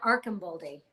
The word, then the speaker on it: Archambaldi: And are we doing Archambaldi or Archambaldi? Archambaldi is how it's pronounced on the audiobook.